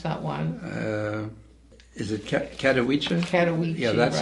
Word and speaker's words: Katowice: How do we pronounce that one? Is it Katowice? Katowice.